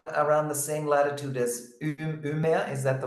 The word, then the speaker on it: Umeå: Yeah, I'm about around the same latitude as Umeå. Is that the right pronunciation? Umeå, yes.